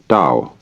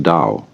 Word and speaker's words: Tao: to a Chinese word Dao you know that's spelled Tao I don't know why because it's usually pronounced Dao and the Dao means